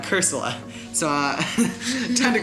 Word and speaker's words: Cursola: Yeah, I actually pronounced that as Corsola, not Cursola.